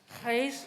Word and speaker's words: Gijs: What is the correct way? Comment on prononce? Gijs.